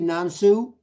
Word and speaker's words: Nan Su: going to have you back uh am I pronouncing your name correctly nansu yes so call me n n Nan from